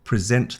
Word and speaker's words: present: I present the award emphasis on the end.